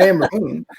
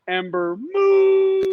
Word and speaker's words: Ember Moon: and Amber Moon against Candice LeRae, and I can't think of this girl's name. Wait a minute. No. By the way, you didn't say it right. Ember Moon.